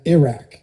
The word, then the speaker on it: Iraq: Now, I was I was tried to somebody tried to coach me into pronouncing Iran and Iraq the same way that I would pronounce Italy. So, Iran, Iraq, I guess I got to work on that.